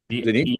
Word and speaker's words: Denise: Am I pronouncing that right, Tom? Denise? Denise, yeah.